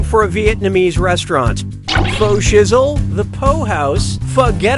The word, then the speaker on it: pho: Pho Shizzle, the Po House, Forget About It, or a good old-fashioned Ho Down? Hope you like what you picked. This delicious soup is pronounced pho.